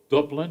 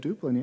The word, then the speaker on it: Duplin: because we'll take another tour of Dublin. Is that how you say it? Duplin, yeah. Yeah.